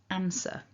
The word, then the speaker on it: answer: are many parts of england where you'll hear people say an as in answer and that's completely fine here we're looking at the r version so repeat after me on again on our second syllable then we've got this um sound this hissing and then a schwa a weak vowel so sir sir we've also got this little r tagged on the end there depending on which version